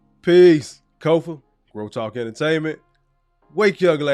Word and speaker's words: Kofa: Again, I am your humble host, Kofa, K-O-F-A, not, not, not Kofi, or any variation thereof. Kofa rhymes with sofa. Easy to say, easy to talk entertainment